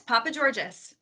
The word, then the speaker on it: Papageorges: Yes, Papageorges. Okay, perfect. I wasn't sure if you now pronounced the S or not.